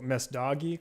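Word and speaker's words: Messdaghi: Chloe, I can never pronounce her last name correctly. Can you? Oh, Mesdagi, Chloe.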